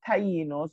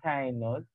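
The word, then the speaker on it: Taínos: Now, the three groups or four groups that we're going to look at, we have the Tainos or the Tainos. Some people pronounce it the Tainos.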